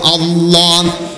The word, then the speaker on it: আল্লাহ: নামটা হল আল্লাহ পৃথিবীতে দুটা নাম মুখের ফাকা জায়গাটা উচ্চারণ করলে পড়ে যায় বুকটা ফুলে উঠে এ নামটা হল আল্লাহ চিকুন কইরা হালকা কইরা পাতলা কইরা বাড়ি কইরা আনার কোন সুযোগ নাই।